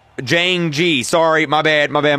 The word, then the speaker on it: Jayingee: all the other pipes is pronounced Jane G sorry my bad my